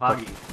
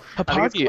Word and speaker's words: Hauppauge: I just call it Hauppauge, but I think it's called Hauppauge!